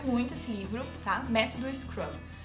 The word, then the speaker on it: Scrum: produtividade chamado o escravo algum se pronuncia um scrum escreve scrm um metro de produtividade o